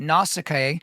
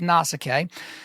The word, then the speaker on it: Nausicaa: woman named Nausicaa or Nausicaa or Nausicaa, right? So there's a lot of ways to say it. Like I told you, we're going to be looking at multiple different pronunciations here. So we'll just go with Nausicaa.